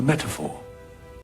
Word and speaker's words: metaphor: So in British English, it would be metaphor. The T is quite strongly pronounced in my opinion as well. So it's meta and then for. A metaphor. Whereas in American English, it would be more like metaphor. So the T is very soft.